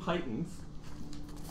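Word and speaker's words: pitons: 10-foot pole yes 10 titans which apparently is the pronunciation of that i didn't know this but p-i-t-o-n-s yeah you can go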